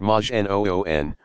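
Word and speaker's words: majnun: not a prophet but just another Magi none pronounced Majin oon one possessed by a jinn to call someone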